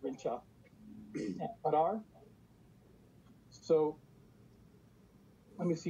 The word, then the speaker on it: Rinca: it says Flores, Moto, Rinca. It's actually pronounced Rincha.